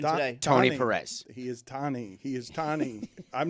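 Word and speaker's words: Tany: It's Tani. It's not Tony. It's not Tony. His name is not Tony Perez. It's not. How does he introduce himself even today? Tony Perez. He is Tani.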